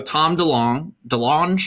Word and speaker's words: Tom DeLonge: So a few years ago, Tom DeLonge, I believe is how you pronounce it.